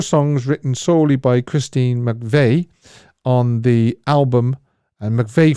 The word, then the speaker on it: McVie: weeks ago that is Christine McVie or McVay however you want to pronounce it I think it's MCV actually uh McPhee wrote Songbird